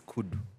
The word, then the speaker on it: Kuddzu: No, that's the wrong one. What you say, Amanya? I didn't see the Gazette. No. It's Kuddzu. That's it.